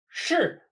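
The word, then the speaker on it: 市: 是. This character means market, and it's often also used to relate to cities. Pronounced exactly like to be, 是.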